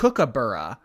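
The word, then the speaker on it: kookaburra: It's pronounced c or cook c cookabura.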